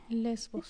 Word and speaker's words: Lesbos: Tú pones ahí se escribe así lesbos para que sepan, porque no se escribe como suena. Es L mayúscula, E, S mayúscula, V, V mayúscula, O mayúscula y Z mayúscula.